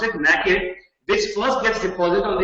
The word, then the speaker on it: nacre: That's how you pronounce it, nacre, which first gets deposited on the parasite, first to kill, and then to soothe the irritation.